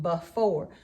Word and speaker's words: before: And in the word before, we say that with a schwa sound, before, but we have to think of it as before when we spell it.